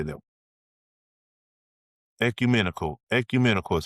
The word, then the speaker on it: ecumenical: Ecumenical is how you say it.